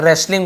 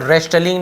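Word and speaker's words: wrestling: रेसलिंग ऐसे बोल, रेस्टलिंग नहीं बोलेंगे, नहीं रेस्टलिंग ऐसे बोलेंगे, केवल रेसलिंग बोलेंगे, डब्ल्यू और एल दोनों साइलेंट है यहाँ पे।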